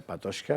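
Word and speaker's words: Patočka: de la carta 77 que se llama Jan Patoshka, se escribe Patoca, c con el el Sí, con el sonidoílico, ya, Patoca, que lo explica muy bien, Eh, en fin.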